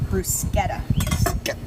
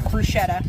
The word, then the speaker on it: bruschetta: And yes, it is pronounced brusqueta. Not bruschetta, brusqueta. And whenever people I don't know, typically I know brusqueta is how you say it, but whenever people say